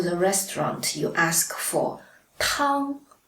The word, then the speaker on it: 汤: And if you go to the restaurant, you ask for 汤, first tone, it means soup.